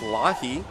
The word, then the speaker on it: Lahi: Her name is actually pronounced Lahi. Lahi. However, her friends call her Maury.